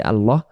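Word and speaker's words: الأعلى: সেজে যে আমরা পড়ব আলা রব্বিয়াল আলা। এ শব্দটা যে ভুল হতে পারে আমরা বলি অনেকেই আলা। আলা বললে এই জায়গায় আইন অক্ষর বাদ চলে যায়।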